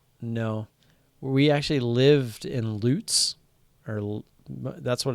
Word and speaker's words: Lutz: where most people know we actually lived in Lutz or that's what it's called there it's spelled like LUT Z Lutz but it's pronounced Lutz which is like 20 minutes north